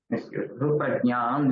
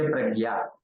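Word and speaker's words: प्रज्ञा: Prajnam, they say pragya, they don't say prajna, like that.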